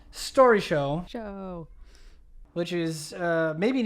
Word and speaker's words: Storyshow: saying it a lot and we're trying to pronounce it correctly and then Dale's like oh like Story show and yeah that's how we landed it baby